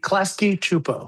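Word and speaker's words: Klasky Csupo: Is it Supo or Chupo? Chupo. Klasky Chupo. Chupo. Okay. That's how it's pronounced.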